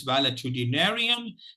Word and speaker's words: valetudinarian: word for today is validity narian it divides itself into seven syllables and if You observe